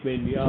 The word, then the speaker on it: Maignan: I'm not sure how to pronounce his surname. So Maignan. It is Maignan.